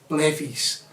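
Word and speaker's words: Levi's: i'll say it like we call them levees levi jeans they call it everywhere else but we're in scotland i think it's scotland like levees i've got my levees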